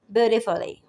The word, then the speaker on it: beautifully: वो है जैसे BEAUTIFULLY, ब्यूटीफुली, ब्यूटीफुली, वंडरफुली। अब यहाँ पर फुली को जोर नहीं लगाएंगे, फुली पे जोर नहीं लगाएंगे, फुली, ब्यूटीफुली, वंडरफुली, वंडरफुल।